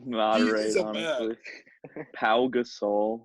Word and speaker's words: Pau Gasol: Pau Gasol, not Paul Gasol.